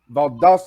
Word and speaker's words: Valdosta: Valdosta. I couldn't remember how to pronounce it.